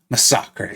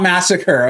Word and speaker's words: Masacre: It's not Masacre, okay? I get it. I understand the confusion. I really, trust me, I do. but it's Masacre. Look at how it's spelled. Look at how Massacre is spelled in the English language. And then you can even go and look at the video Kabam did for this champion. He speaks Spanish.